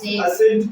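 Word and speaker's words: ascent: पर देखिए इसको क्या पढ़ेंगे असे क्या पढ़ेंगे असट पढ़ेंगे ठीक है असट मतलब आरोह च आप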